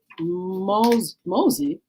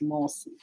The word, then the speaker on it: Mose: a school that no longer exists Fort Moss pronounced Mosey Mossy is one of the most important more